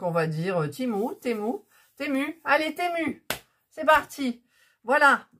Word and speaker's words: Temu: prononcent timou et puisque le U normalement se prononce ou le i le E en anglais se prononce I et il y en a qui disent temou il y en a